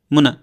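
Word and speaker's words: I'm going to: আরো শর্টে বলা যায় আমি যদি একটু উচ্চারণ করে দেখাই মুনা মুনা মুনা মুনা মানে কি মুনা যে উচ্চারণ করলাম এটাই হচ্ছে আই এম গোইং টু আই এম গোইং টু কে এত শর্ট ফর্মে বলে মুনাম সি ইউ লেটার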